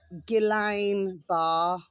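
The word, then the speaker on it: Guillain-Barré: my delish babies and it's called um uh gillain bar. Okay my delicious babies I'll just um spell that for you.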